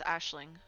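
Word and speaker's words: Aisling: So this ice is actually pronounced Ashling.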